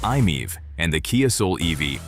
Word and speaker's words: i-MiEV: The original Nissan Leaf, the Mitsubishi i-MiEV, pronounced "i-meev", and the Kia Soul EV all charged this way.